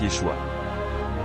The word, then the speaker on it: Yeshua: Le nom que nous connaissons Jésus provient du Grec Yesou qui était l'effort des Grecs pour translitérer la prononciation hébraïque Yeshua.